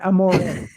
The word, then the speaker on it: Amore: I know the right way to say it Amore um and you know a typical Westerner Amore